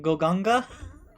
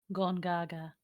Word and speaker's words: Gongaga: the good boy from goganga gongaga ganga send him to gongaga i really like it if you say it right ugh uh just to